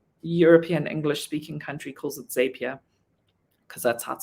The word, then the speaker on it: Zapier: zapier apparently it's pronounced zapier even though they spelt it wrong and the whole idea is that it is supposed to make you happier which i read in